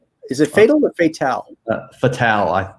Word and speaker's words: Fatale: If not, please tell her I appreciate her work on Fatal. Is it Fatal or Fatale? Fatale, I think Fatale. It's pronounced off of Femme Fatale.